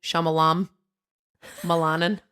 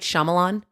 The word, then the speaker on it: Shyamalan: the I'm gonna say this wrong M Night shalam Milan videos how do you say his last name M Night Shyamalan yeah as I said I can watch the